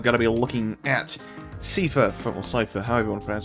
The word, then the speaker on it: Seifer: I say Seifer because the way I've always seen it is in German you say Ein, and that's spelled E-I-N. I'm sure there's spellings for words I said either way, but Seifer, I'm saying Seifer.